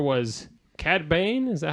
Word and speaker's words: Cad Bane: Number 4 was Cad Bane. Is that how you pronounce it?